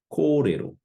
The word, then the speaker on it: kōrero: Going over a few more examples, how would you pronounce the following? Kōrero, kōrero.